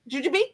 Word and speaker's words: Jujube: I've never pronounced the E at the end. You just call them Jujubes? Or Jujubes? Jujube? Or Jujub? Jujube. It's Jujube.